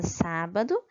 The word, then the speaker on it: sábado: dois exemplos a palavra sábado e a palavra público sa é a sílaba mais forte pool é a sílaba mais forte da palavra público ok e agora vamos